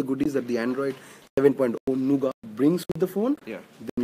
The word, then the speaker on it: Nougat: that the Android 7.0 Nougat brings with the phone, then you go with the How do you say it? Nougat. Nougat. Nougat. Nougat. The T is silent. Nougat.